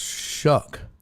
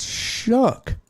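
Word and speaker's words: Shough: Pronounced shuck. That's crazy. It's crazy right there on the thing. Look at that pronounced shook.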